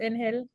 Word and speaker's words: Angel: By the way, is your name pronounced Angel? Yeah, but I don't like.